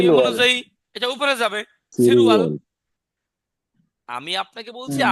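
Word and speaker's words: 칠월: সিলওয়াল তো আর হবে না, হবে সিরুয়াল। কি হবে? হ্যাঁ, বাসিমের নিয়ম সিলওয়াল। অনুযায়ী এটা উপরে যাবে, সিরুয়াল।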